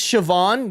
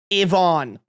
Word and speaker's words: Siobhan: In my defense, that is not how you pronounce Siobhan. The only thing The only thing that I would have guessed The only thing you got You didn't even get the sh right. The only thing you got right in that The only thing that's pronounced in that name is the A N.